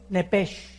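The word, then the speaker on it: nefesh: la palabra alma es nepes en el hebreo apúntalo nepes se pronuncia nepe porque la ch en hebreo es nep y la palabra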